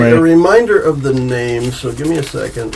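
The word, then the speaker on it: Nahmay: And then Name, Elder Name, Name with a little apostrophe over it. I'm going to spell it Sound like from, like, Dragon Ball Z.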